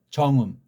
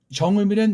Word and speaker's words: 정음: 이걸 백성을 훈계하는, 백성을 가르치는 정음, 바른 소리예요. 이 정음이란 말까지도 정이라고 발음해야 돼요. 음도 이렇게 깊은 데서 나는 소리. 정음.